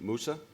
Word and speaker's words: Mousa: Next to Suzette is, correct me if I get the pronunciation, Mousa? Yeah. And Mousa is a Grammy-nominated producer and talent manager with a lot of very cool hip-hop acts.